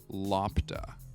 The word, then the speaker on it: LOPDA: All members of the League of Poorly Defined Adventurers, or LOPDA, which we pronounced Lopta.